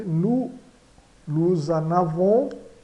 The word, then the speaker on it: nous en avons: Nous en avons. Então, fazemos a ligação com o Z.